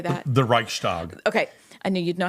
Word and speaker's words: Reichstag: you tied that sure german would say to me no it's reichstag tell me that i'm saying it wrong but let's just say this is the anglicized version yeah okay so the